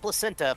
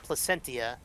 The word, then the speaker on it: Placentia: Placentia. Not placenta, Placentia.